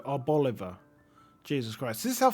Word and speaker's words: Arboliva: Chloritza Reverse Holo, Reveroom Reverse Holo, and an Arboliva, Bolivar, because it's like an olive, right? So you say it like Oliver, so Arboliva.